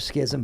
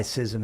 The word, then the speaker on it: schism: I don't know why it's pronounced schism instead of schism, but I will know before the next show why schism is correct and schism is less preferred.